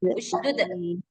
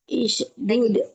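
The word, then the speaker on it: اشدد: Usdud isdud bihi bukan is u usdud bihi usdud bihi uzri azri oh iya usdud bihi azri wasriku fi amri asriku Amri.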